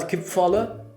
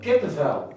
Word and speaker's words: kippenvel: Kipvallen, like when you get goosebumps. When you get goosebumps. Oh, yeah. Kipvallen. Kippenvel. Kippenvel. Oh, I think kippenvel.